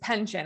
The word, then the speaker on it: Penchoen: Was that close? It's close. It's pension. It's easier than it looks. Okay. I was going for the French version.